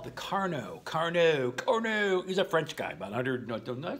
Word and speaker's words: Carnot: So the Carnot, that's spelled K-A-R-O-N-T, Carnot, it's French, so sophisticated, is percent efficiency is equal to TH minus TC divided by TH.